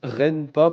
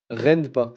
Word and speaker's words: Renpa: L'unité du général Rampa a été détruite. Ils ont été vaincus. Parfait. Envoyez l'unité, c'est Kiga. Yo, juste ça se prononce Ren pas par R pas. Ren pas, c'est ce que je dis.